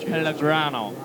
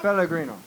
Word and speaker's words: Pellegrino: Pellegrino. No. Yeah. Good. Picaro, can you please pronounce this? Valiant effort. That was in Italian? We'll have Picaro do it. Pellegrino. I couldn't. Pellegrino.